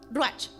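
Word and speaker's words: רוּחַ: Hay algo muy precioso y es de que la palabra viento en hebreo que es usada ahí es ruach, o saber cómo se pronuncia, ruach.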